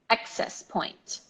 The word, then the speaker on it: access point: stress of the word so you're not gonna say X s you're gonna say access point okay repeat after me